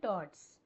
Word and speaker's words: towards: to on to yes two into onto and TOS actually towards is pronounced as TOS TOS okay TOS is the